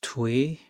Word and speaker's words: 뛰: To pronounce twi, think of twi in tweet, but say it as one syllable with a harder t sound like twe tw.